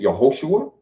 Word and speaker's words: Yehoshua: So, you dealing with a black man called, they call him, some of our Israelite brothers pronounce it Yahawashah. Some pronounce it Yehoshua. Some say Yeshua.